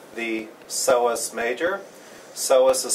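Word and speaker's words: psoas major: one is called the soos major soas is spelled with a p but you do not pronounce the P the seos major is right next to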